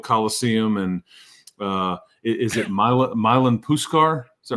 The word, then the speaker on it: Milan Puskar: But both the old coliseum and uh is it Milan Puskar? Is that right? Milan Puskar Stadium, yeah.